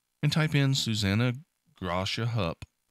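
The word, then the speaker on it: Hupp: Among the victims killed were the parents of Susanna Gracia Humpt or Hup, sorry, I mispronounced her name. Susanna Hup would later give testimony that would be critical in passing the Texas CHL laws.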